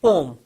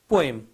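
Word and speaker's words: poem: का पोयम्स होता है some people pronounce it पोम और कुछ लोग जो है कुछ टीचर से मैंने सुना पोयम तो पोम पोयम एंड I call it पोयम क्योंकि मैंने जितने भी अपने टीचर से सुना तो वो पोयम प्रोनाउंस करते हैं तो पोयम का पोयम्स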